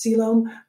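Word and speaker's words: coelom: technically that means no siloam no salem y-c-o-e-l-o-m is pronounced siloam i don't know i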